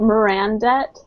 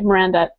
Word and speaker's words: Miranda: Mirandette? Mirandette? Okay, Miranda.